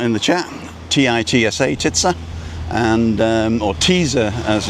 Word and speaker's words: TITSA: And it's spelt T-I-T-S-A.